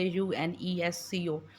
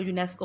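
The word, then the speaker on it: UNESCO: इसको आप अलग से प्रोनाउंस नहीं करते। यू एन ई एस सी ओ ऐसे प्रोनाउंस नहीं होता। हम इसको यूनेस्को प्रोनाउंस करते हैं।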